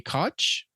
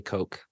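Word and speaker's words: Koch: pronounce his last name it's actually Coke sorry oh is it really yeah that's a that's a common or let's say a common last name I wouldn't say common but it's one that you see a lot in politics so I'm fairly certain it's pronounced Coke okay Louis J Coke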